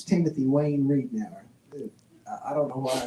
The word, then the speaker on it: Readnour: But that is pronounced Readnour, and Readnour.